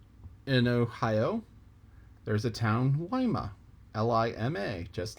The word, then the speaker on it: Lima: a town in illinois called cairo c-a-i-r which is spelled just like cairo egypt in ohio there's a town wyma l-i-m-a just like lima beans that's named for